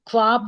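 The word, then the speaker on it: خواب: फारसी में जैसे परवाने, तो एक ख्वाब में जैसे वाह साइलेंट होता है, खाब होता है, वाव के बाद अलग वाव, तो परवाने में भी फिर वाव।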